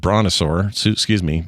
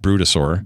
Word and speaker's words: Brutosaur: Hey, a reminder, folks, if you haven't gotten that Traders Gilded Brontosaur, Brutosaur.